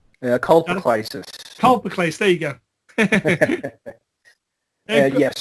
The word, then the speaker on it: Colpocleisis: So what you're in Crepitation as well as being in am I pronouncing it right? Colpocleisis? Yeah, Colpocleisis.